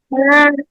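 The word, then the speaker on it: ب: হ্যাঁ, যখন আমরা বাটা উচ্চারণ করব তখন ভিজা অংশ 2টা লাগানো থাকবে, এইভাবে। বা।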